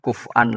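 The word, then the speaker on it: كفوا: Meskipun dibaca kufan maknane yang walam yakun ahadun kufu'an lahu. Ndak ada seorang pun yang mengimbangi Allah, yang menyamai Allah. Ee ini cerita alfaz sanad kita ke Imam Asim bacanya kufuan, tapi maknanya tetap kuf'an.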